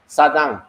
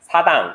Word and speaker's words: 사당: station in Korea, Sadang. 사당. Yes. Sadang. Yeah, 사당. I always miss that station. Why? I don't know. Why? But 사당. that's why I always remember Sadang.